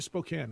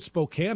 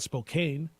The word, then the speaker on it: Spokane: tell you gonzaga's put Spokane on the map some people still call it Spokane because that's how it's spelled I'm gonna put it